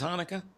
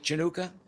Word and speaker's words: Hanukkah: Anybody see the Smokey Robinson video that's running around where he mispronounces Hanukkah? Calls it Chanukah.